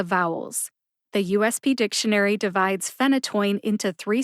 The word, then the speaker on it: phenytoin: short I sound and that last syllable t-o-i-n or toin is pronounced like the word toy with the letter N at the end toin the USB dictionary